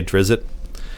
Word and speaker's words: Drizzt: very good question and we have a lot of different pronunciations of Dritz that have come through our office you know certainly quite a few people say Drizzt but Dritz is the one that has stuck for us and i believe it's